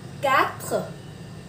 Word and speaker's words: quatre: Số 4, quatre, quatre, như chữ ca, quatre.